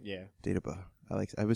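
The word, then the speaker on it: Dagobah: was like, "You have to go to the Data Bus system." I said it right? Yeah. Data Bus.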